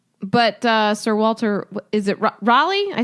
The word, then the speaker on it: Raleigh: well I should say I'm assuming it's Reilly because it's Raleigh North Carolina okay um he never